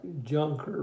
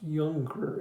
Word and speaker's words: Junker: a younger you know it looks like junker but it's pronounced younger in German and he was a